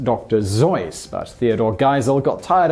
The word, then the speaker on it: Seuss: intended for example Dr seus should actually PR pronounced Dr zoy but Theodore geel got tired of correcting people so we all now say Dr Seuss instead of how Dr Seuss initially intended similarly